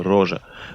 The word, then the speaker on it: Roger: здесь важно сделать отступление у французов есть имя которая тоже пишется роджер но произносится рожи почему же родители проживающий